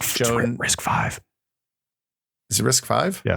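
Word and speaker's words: RISC-V: risk five is um risk V pronounced risk five it's literally how the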